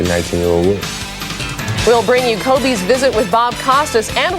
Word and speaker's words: Kobe: And there's a sort of steak that is popular in Japan, Coobe steak, Coobe beef. And eventually after they took the name from that, K O B E, people started pronouncing it Kobe. And that's what stuck.